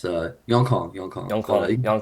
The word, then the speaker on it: Yongkang: contemplating like how do you like Yeah, pronounce it and stuff. Okay, it's my full government name right there. It's Yongkang.